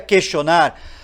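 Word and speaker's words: quaestio: bem-vindos ao podcastil porque cache porque Castle lembra questionar porque em latim se pronuncia question em latim question quer dizer pergunta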